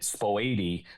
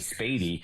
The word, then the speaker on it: Spady: If I said a street name wrong, if I said Spoady Road instead of Spady, oh my God, my phone lit up, and Caruso's corrected me, and so.